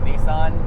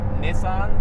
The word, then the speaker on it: Nissan: But I'm still going to pronounce it Nissan just because.